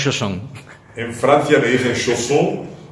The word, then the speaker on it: Chausson: He escuchado de todo, pero en Francia lo pronuncian correctamente porque es un nombre francés, una palabra francesa.